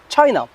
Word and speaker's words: China: اوكي في اللغة الإنجليزية ما نسموهاش شاينا، نقولوا تشاينا.